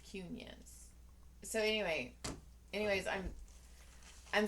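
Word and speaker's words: Quiñones: in the Middle kid no cune like not Muniz cunions so anyway anyways I'm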